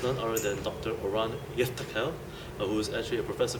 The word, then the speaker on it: Yiftachel: Oren Yiftachel, who is actually sorry. Did I pronounce correctly? Yiftachel. Three syllables. Yiftachel.